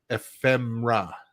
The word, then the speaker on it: ephemera: I was like, it's phonetically ephemera, right?